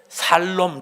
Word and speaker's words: 샬롬: 딱 두자 한번 해보 발음 잘해야 됩니다 샬롬 죽일놈 하면 안 됩니다 자 옆에 분 두